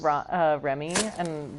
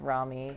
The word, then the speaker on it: Rami: I always thought it was Remy, but I'm pretty sure it's Rami.